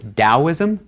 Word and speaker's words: Taoism: In both cases, the Chinese character hasn't changed, the pronunciation hasn't changed, it's just a different way of rendering that sound into English letters, into the alphabet. So it's Taoism and Lao Tzu.